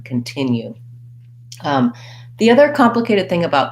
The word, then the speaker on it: continue: sounds more like ca so often you're going to also see that we have the unstressed khan continue the other complicated thing